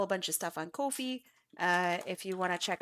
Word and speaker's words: Ko-fi: If you also want to check out my Ko-Fi or I don't know how to pronounce that. Ko-Fi.